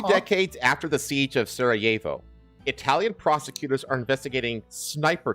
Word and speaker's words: Sarajevo: Sarajevo is pronounced with the Y where the J is. So Sarajevo.